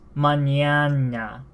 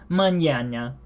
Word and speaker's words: mañana: think looking at this mañana mañana that's what I would think but how you actually pronounce this is mañana mañana and this just means